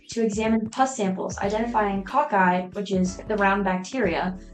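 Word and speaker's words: cocci: the Ki how do you say it CCI cocky yeah so aen used a light microscope to examine pus samples identifying cockeye which is the round bacteria that are often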